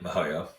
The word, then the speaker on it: miHoYo: Is that how you pronounce it? Yep, Mihoyo. Mihoyo, which has been around since 2011, so a little newer, but still around for a decade or so.